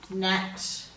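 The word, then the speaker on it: gnat: And then we're going to change colours and we'll go to the silent G in these ones. So we've got sign, design, assign, nat, gnome and gnarly.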